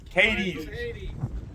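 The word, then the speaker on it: Cádiz: The headquarters for Cadiz Farms is right over here. And I keep forgetting, is it Cadiz or Cadiz? Cadiz. Like from Hades.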